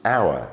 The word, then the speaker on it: hour: onto the letter H H is often silent at the beginning of a word the earlier example that we gave you was hour as in the time